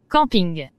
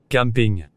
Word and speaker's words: camping: Et ce terrain où l'on couche en plein air sous la tente ou dans une caravane, est-il prononcé de la même façon des deux côtés de l'Atlantique? Camping. Camping.